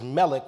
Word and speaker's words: Melech: the vowels in MLK becomes m-e-l-e-k which is Melech which is the term King the valve points